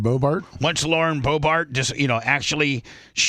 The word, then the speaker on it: Boebert: Once Laura Bobart, why you say her name? Lauren Boebert.